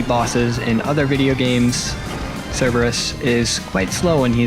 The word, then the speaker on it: Cerberus: Actually, I think I remember in like 8th grade, no, 9th grade, my Latin teacher made sure we knew that it was actually pronounced Cerberus in Latin.